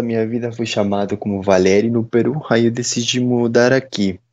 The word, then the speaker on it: Valery: Então, a correta pronunciação seria Valeri, mas é Valeri.